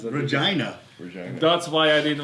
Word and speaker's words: Regina: Okay, Justin from you pronounce that. Regina.